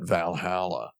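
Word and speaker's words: VA-11 Hall-A: realizing that that that you pronounced that Valhalla I thought it was you're supposed to read the numbers that's a joke V 11 Hall hyphen V 11 Hall hyphen a yeah this game looks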